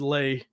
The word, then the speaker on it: Leigh: your name right yeah you said lay right l-a-y yeah that's how you say it a lot of people call me but so how did